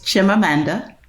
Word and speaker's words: Chimamanda: It's Chimamanda Mm-hmm.